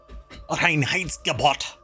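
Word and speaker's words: Reinheitsgebot: law uh the Ry wait it's Rin height gabot you have to say it like that um it's very intense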